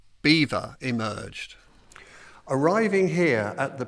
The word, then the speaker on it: Belvoir: But the local Saxons struggled to pronounce it, and eventually the name Belvoir emerged.